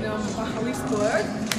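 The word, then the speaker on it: Magaliesburg: And we're here at the Cradle of Humankind, all the way in Mahaliesburg. That's how it's pronounced, even though it's spelled Magalizabeth.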